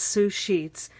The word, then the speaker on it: Sue Scheets: sushi comes from well if you say my name really fast sue sheets sushi sushi it sounds like sushi so I kind of